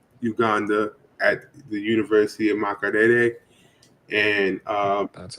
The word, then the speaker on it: Makerere: They will be launching their first debut of their app in Uganda at the University of Makerere, and That's how you say it.